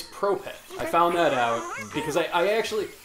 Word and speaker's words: Prope: uh is that how pronoun I it's it's Propet I found that out because I I actually